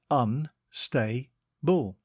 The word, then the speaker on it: unstable: It is pronounced un-stay-bull, and it is spelt U-N-S-T-A-B-L-E. Think un and then stable, like a horse's stable.